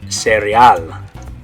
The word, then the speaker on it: cereal: Okay, so in English you would say cereal, in Spanish it's going to be cereal.